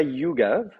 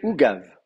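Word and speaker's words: עוגב: Alors attention, c'est pas Yugav, c'est c'est Ugav.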